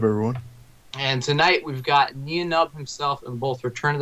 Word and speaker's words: Nien Nunb: Yes, Nien Nunb, as in number nine. That's the sort of unofficial official way to say his name, Nien Nunb.